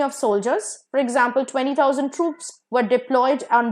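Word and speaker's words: troupe: the next word Paris ट्रूप दोनों का pronunciation same है टी R double OP ट्रूप is basically a company of soldiers for example 20000 ट्रूप्स were diploid on द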